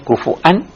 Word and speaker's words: kufuwan: Dibacanya kufuan atau kufuwan.